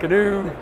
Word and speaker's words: GNU: And it had the pronunciation new, but I went, I'm going to call it GNU.